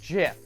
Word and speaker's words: GIF: Theo Jo is going to lay down some righteous knowledge on you it's Jeff it's pronounced jiff and you know what